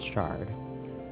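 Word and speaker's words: sherd: And yes, I know they're spelled with an E, it's still pronounced shard.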